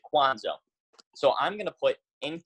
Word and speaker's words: Cuonzo: ferns new basketball so Cuonzo Martin he's head basketball coach but his name spelled Cu o NGO which a lot of people get confused and pronoun see Kwanzaa so I'm gonna put